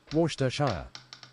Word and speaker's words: Worcestershire: I can pronounce that, Worcestershire. It's just Worcester actually, like Leicester is just Leicester.